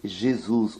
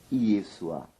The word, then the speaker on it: Yeshua: nome, de maneira alguma, se pronuncia do jeito Jesus ou Jesus, mas sim Yeshua.